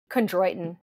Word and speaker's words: Chondroitin: I can't pronounce it. Chondroitin.